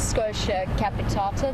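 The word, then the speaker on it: Schotia capitata: Yep, Raisa was the Scotia, well we pronounce it Scotia capitata, the dwarf boerbean.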